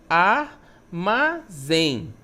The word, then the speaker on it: armazém: Armazém, né? É uma oxítona? É uma oxítona, porque a última sílaba é a mais forte.